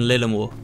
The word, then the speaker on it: Lillimore: It's Ulle and Lillimore. I'll have to try and remember the pronunciation on those.